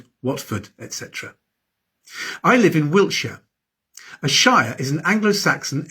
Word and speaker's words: Wiltshire: And shia is usually pronounced sha, Wiltshire, Yorkshire. And ham is usually pronounced um Birmingham, Nottingham.